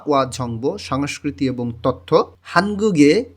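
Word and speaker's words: 한국의: হানগুগে কোরিয়ার গিয়কটা ইয়ংয়ের স্থানে গিয়ে উচ্চারণ হবে এবং উই যখন পার্টিকেল হিসেবে কোনো শব্দের শেষে বসে তখন উই উচ্চারণ না হয়ে এর মতন উচ্চারণ হবে। এখানে উচ্চারণ হবে হানগুগে মানে কোরিয়ার।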